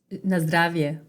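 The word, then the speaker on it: На здравје: Na zdravie.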